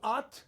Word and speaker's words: Ott: Am I saying it correctly? Ott? Ott, that's correct.